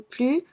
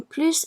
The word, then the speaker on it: plus: Also, in the comparative expressing superiority, when que is placed immediately after plus, the S in plus is pronounced.